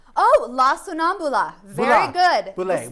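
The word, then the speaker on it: La Sonnambula: And I want to pronounce it right. Oh, yes. It's called La Sonambule. Oh, La Sonambula.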